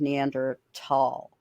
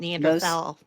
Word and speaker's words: Neanderthal: One of them was the pronunciation of Neander tall instead of Neanderthal.